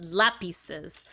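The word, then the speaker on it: lápices: like a Los lucis so that's a c uh lapis l a p i z lapes l a p i c s lapices so that's that's common there but that c e makes the S noise not the C noise right my brain really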